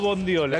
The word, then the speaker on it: bondiola: almóndiga mondiola mondiola o bondiola lo que pasa que mira la palabra la mayonesa o la mayonesa la palabra es bondiola pero mondiola es hermosa mondiola es hermosa Pero no no existe mondiola tengo miedo decirlo mal